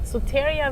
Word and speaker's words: Soteria: Soteria? Soteria. Soteria VR.